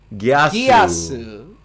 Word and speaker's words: Geass: fairness, it is Kodo Gyasu. Gyasu.